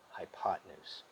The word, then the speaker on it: hypotenuse: hype now and again we spell it hypo 10 use but we pronounce it hypotenuse all right given the